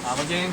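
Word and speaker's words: Ommegang: Yeah, it's We forgot to mention Amagang, is that how you right.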